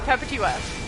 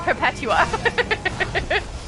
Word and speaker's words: Perpetua: much earlier on, and I did not know the pronunciation for her name, I used to call her how did I say it? Perpetua. That's how I said it, Perpetua. Instead of Perpetua. Weird emphasis.